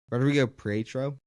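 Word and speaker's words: Rodrigo Prieto: But Rodrigo Pietro, that's how you say it.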